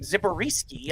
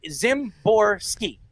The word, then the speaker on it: Zimborski: i mean so but your last name zipper risky i mean he he was trying to pronounce it to me i was like how are you he's like zimborski zimborski so there you go